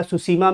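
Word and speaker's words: Tsushima: T silent है, इसमें ध्यान रखिएगा, सुसीमा में भी टी साइलेंट था, ठीक।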